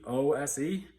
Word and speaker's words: Czolgosz: It's Czolgose, but I had Google pronounce it for me, and it came up with Czolgosz.